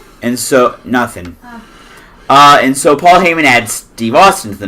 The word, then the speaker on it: Paul Heyman: But the next person that comes out is none other than Paul Heyman. Excuse me, sir. You did not say it correctly. Ladies and gentlemen, my name is Paul Heyman.